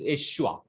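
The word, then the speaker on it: Yeshua: is in Hebrew is Eshua. The pronunciation of the word Jesus in Hebrew is Eshua.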